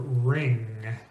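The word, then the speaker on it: wring: One combination of letters that you can very easily count on the W being silent is WR, especially WR at the beginnings of words. Right, or ring, or wrestle.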